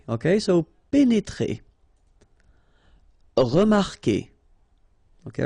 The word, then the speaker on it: remarquer: Okay, remember that when we've got this Q, and after that, well, vowel like here. Anyway, you've got to put this vowel U, even if you don't pronounce it. Okay, so it will go like que.